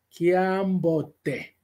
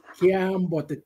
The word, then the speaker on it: Kiambote: Atenção às vogais longas, como, por exemplo, Kiambote. Kiambote, portanto, o vogal longo.